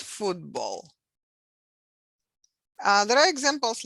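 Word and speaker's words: футбол: back and voiceless so voiceless consonant before the voiced becomes voice two so we pronounce it not football but football uh there are examples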